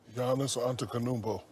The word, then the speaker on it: Giannis Antetokounmpo: Can you pronounce Giannis's last name for Giannis, just to make sure the pronunciation is correct? Giannis Antetokounmpo.